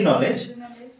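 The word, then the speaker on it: knowledge: টু নো knock at the gate of দি নলেজ it will and it will protect you like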